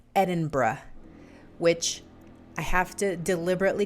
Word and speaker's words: Edinburgh: he lives in edinburgh scotland that's how you pronounce that it's not edinburgh it's edinburgh which i have to deliberately concentrate and make